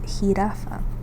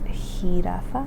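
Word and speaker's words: jirafa: So this one is hiraafa hiraafa giraffe. Hi. So the letter J um is going to be pronounced as a H sound.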